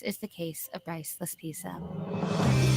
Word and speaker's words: Laspisa: This is the case of Bryce Laspisa. Pisa, that's how you say his name. La Pisa.